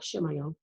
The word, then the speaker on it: Chimayo: Spell it. Chimayo. Shimayo.